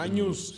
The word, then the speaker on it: Agnus: Y se escribe Agnus. Años. Sí. Y se dice años, ¿verdad?